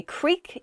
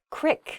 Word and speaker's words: creek: words that vary by region Creek I say Creek you might hear the word Creek Creek the word Creek means a small River essentially